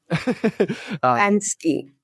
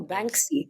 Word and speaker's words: Banksy: Bansky. No, Banksy. Oh, I'm saying it wrong. Banks. Banksy. Banksy.